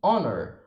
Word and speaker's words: honor: Há alguns casos também que o H é mudo, por exemplo, em honest e honor.